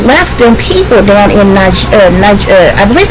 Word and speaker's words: Niger: And, I end up, it's actually spelled nigger, but it's pronounced Niger, okay?